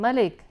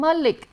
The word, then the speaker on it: Malik: And then they'll still say, oh Malik, and I'm like, no, not a double L.